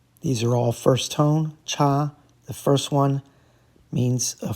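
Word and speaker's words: 察: It's cha, second tone, to closely examine or observe.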